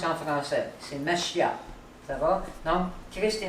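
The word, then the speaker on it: משיח: Messie, c'est juste un mot hébreu qu'on prononce en français. C'est Mashiach.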